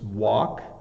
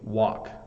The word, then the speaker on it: walk: It's walk. It's similar to like W-O-K, walk.